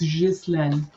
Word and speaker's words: Ghislaine: No, they're saying it wrong in the news. It's Ghislaine. Sorry. Ghislaine. Yeah. If she got a French word, she's got to say it in French.